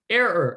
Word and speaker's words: error: um think of uh two syllables air like your breathing air you're breathing air repeat air air ending and then write her error no i actually don't put the h just air er error you have it error